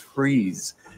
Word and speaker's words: Fries: here it is Rebellion well it's pronounced freeze now this rebellion was